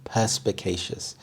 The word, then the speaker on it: perspicacious: very common perspicacious perspicacious the primary stress is on the first syllable perspicacious this means being good